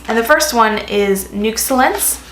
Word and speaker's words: Nuxellence: the first one is nooks lens it's how it's pronounced like excellence but nooks lens ich